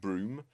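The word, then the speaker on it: Brougham: close by we've got Broome Castle, which is also actually in the corner of a Roman fort and is not spelt like how it's pronounced.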